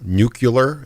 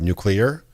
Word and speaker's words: nuclear: for saying uh nuclear nucular instead of nuclear in my Fallout video